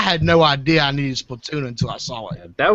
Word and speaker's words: Splatoon: i haven't seen the splatoon like trailers like i'm saying it wrong i know splatoon but no it's splatoon watch it why like